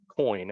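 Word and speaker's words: quoin: mains Corner structure um that term q-u-o-i-n is often uh is pronounced coin as just as in the change that you carry in your pocket a coin um it is pronounced exactly the same but these blocks the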